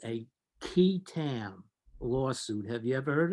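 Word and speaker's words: qui tam: the false claims act there's something called a key tam lawsuit have you ever heard of this no most people have not it's spelled q-u-i-t-a-m actually goes back to english common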